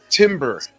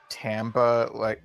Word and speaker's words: timbre: Uh, so I looked this up, and the American pronunciation is Timbre, and over in Britain they say it like Tamba, but I also Huh. found this old interview where Steve was asked about the pronunciation, and it's text only, but it looks like he was like Timber, Tamber, Tamba, like either one is fine.